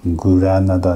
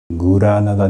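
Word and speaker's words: Granada: しましたが日本の方が一般に発音されるグラナダではありませんグラナダではありませんもしご覧になってない方いらっしゃればねまたあの発音に関するビデオをご覧いただければと思いますがグラーナダではなくてスペイン語ではガラガラナーダに Uは来ませんからグラーナだとは言わない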